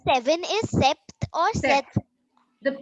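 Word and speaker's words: sept: seven is SE or SE the p is silent it's set okay okay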